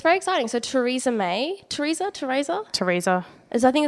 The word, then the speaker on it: Theresa: So Theresa May. Theresa? I think it's Theresa, yeah. It's Theresa. It's very... I hate people have names that can be pronounced different ways.